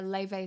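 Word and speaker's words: Laufey: Yeah, it's a Levey song. It's called Snow White. Uh, it's spelled L A U F E Y if you want to find her.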